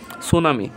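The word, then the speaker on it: tsunami: বানান টি এস ইউ এন এ এম আই সুনামি এখানে দেখেন সুনামি এস ইউ এন এ এম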